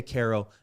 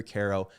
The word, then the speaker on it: Quero: It is Care, like Care Bear, Care, O-O-H.